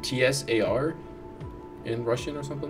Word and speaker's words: Tsar: Yeah, isn't it like T-S-A-R in Russian or something like that? Oh, in Russian, it's a single sound.